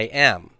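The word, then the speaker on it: εἶ: And this is I am. I am. A is second singular, and it's, well, pronounced A.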